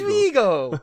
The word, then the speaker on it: Viggo: damon as viggo vladimir it is vego you know you have to say we go like that that's